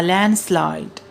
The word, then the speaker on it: landslide: disaster is called the landslide landslide in this word d is a silent alphabet we don't pronounce the correct pronunciation is